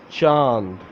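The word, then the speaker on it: چاند: Chand.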